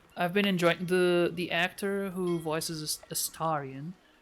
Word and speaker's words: Astarion: I've been enjoying the actor who voices Astarion. I've realized I've been pronouncing the name wrong all this time. But it makes sense given the character that it wouldn't be Astarion, it would be Astarion.